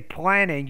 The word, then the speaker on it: planning: house on campus okay so then say planning you just want to pronounce the p with more aspiration because they think that